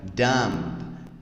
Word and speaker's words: dumb: Aqui, na verdade, você vai ter uma variação apenas no som do U, que vai ter um som de A, tá? Então fica dumb, ok?